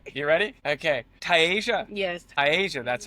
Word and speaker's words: Tiasia: Well, I just said to Karen, damn, I pronounced that. I should know. Tiasia.